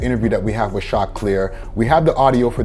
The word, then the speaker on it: Choclair: I know it's spelled like chocolate, but it's Choclair.